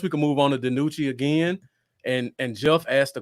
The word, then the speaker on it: DiNucci: DiNucci.